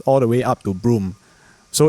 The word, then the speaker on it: Broome: It is pronounced Broome, because when I spoke to the locals there, They call it Broome lah.